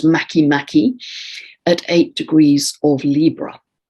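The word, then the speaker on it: Makemake: um this copper belt object before spelt spelled make make but it's pronounced mackie mackie at eight degrees of libra now makimaki is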